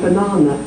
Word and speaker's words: banana: one we don't say you say banana so that's the second syllable is stress and it has a full R sound that the first and the third are an up but to